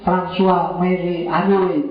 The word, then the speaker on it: François Marie Arouet: Nama aslinya François Marie Arouet. Bacanya gitu, makanya kamu belajar Perancis dikit-dikit.